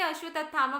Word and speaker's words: अश्वत्थामा: कुछ लोग इसे अश्वत्थामा बोलते हैं, कुछ अश्वत्थामा बोलते हैं. सो कमेंट बॉक्स में आकर अब आप लोग ये कमेंट ना करें कि आपकी प्रोनाउंसिएशन ऐसी है, ये प्रोनाउंस कर दिया. सो अश्वत्थामा इज फाइन.